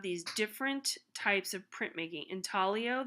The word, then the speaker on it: intaglio: Intaglio, that's how it's pronounced. It's Italian.